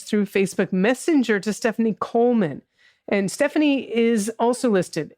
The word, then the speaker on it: Goldman: Coleman. Goldman. I thought the D was silent. It is pronounced Coleman, isn't it? We've had some confusion. Oh, yes, Coleman. The D is silent in America.